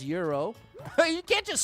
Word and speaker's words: gyro: Jackson says euro. You can't just spell it. Gyro. Euro. Uh-oh. Oh, did we get a checkpoint? Hero, gyro. There you go. Euro is the culturally correct pronunciation, as I've been taught.